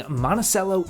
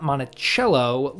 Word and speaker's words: Monticello: today we're back out on the road visiting monacello Illinois monacello is a small rural community of about 6,000 residents that's located between Chicago Indianapolis and Springfield Illinois as a note the town is pronounced monacello not monachello like Thomas Jefferson's estate it took me quite